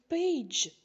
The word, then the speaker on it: page: як G та сіль ви звісно прочитали пег але ми додали літеру і Page тобто літера G теж